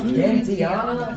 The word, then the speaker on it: Gentiana: No, hard G. It's a hard G. I said, Gentiana. Gentiana?